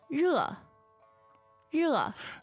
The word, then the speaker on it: 热: 我很热，我很热， Now, the word for hot is 热，热。 fourth tone, right? Yes. And that's spelled in pinyin, it's just spelled R-E, right? But the pronunciation is a little bit trickier than that.